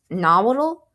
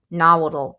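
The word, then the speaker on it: Nahuatl: This is is uh spelled N A H U A T L right so I think it's pronounced nodal nodal right I think that's how you pronounce it I could completely have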